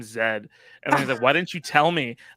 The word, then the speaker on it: Zaid: for Lance and David it's just like you're a letter in the alphabet that's how we say